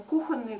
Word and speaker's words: кухонные: что в единственном числе но слова от которого образована прилагательное кухонный она от слова кухня а где ударение падает на первый слог она как бы это ударение фиксируется так и остается во всех словах которые образованы от этого слова поэтому кухонные как-то ну